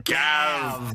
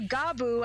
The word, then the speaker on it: Gavv: It's spelled Gavv, and first instinct is Gav, which of course led my brain to, Oi, Gav! No, but then we realized that it's similar to Gabu, as in like a chomping